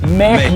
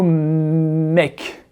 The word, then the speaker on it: make: Le mot make, il ne se prononce pas make, il se prononce make.